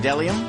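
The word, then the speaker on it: bdellium: right okay and then delium delium it's a it's a gum-like tree resin starts with a silent B and then Zar yeah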